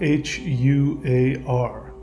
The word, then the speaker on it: Huar: It is spelled H-U-A-R, Huar, and it is the mantra for this particular moment.